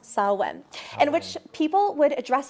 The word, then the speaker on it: Samhain: the celtic tradition saw when it's spelled samhain pronounced salwen in which people would dress up to scare